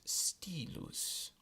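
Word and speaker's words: stylus: in the letter y y is pronounced just like a long I so the word pronoun that is spelled st yl us is Ste loose there are also three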